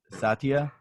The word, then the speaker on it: Satya: Satya is how you pronounce his name.